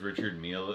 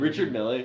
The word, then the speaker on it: Richard Mille: Yeah, actually, Chomsky I'm has like a closet full of like those Richard Mille. What is it? How do you pronounce his name? Richard Mille.